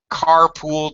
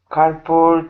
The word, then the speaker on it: carpal: Not pool, because we're stressing the first syllable.